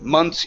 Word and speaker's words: months: earlier oh um yeah so months equals m u NS months right but if it's singular it would be month month exactly when it is singular you do have to pronounce the th when it's plural you do not okay and also one